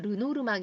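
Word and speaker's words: Lenormand: 카드를 만드신 분이 되겠습니다 근데 이게 프랑스 식으로 발음을 하면 루노 르망 인데요 어 영어식으로 만약에 발음을 하신다면 어 르노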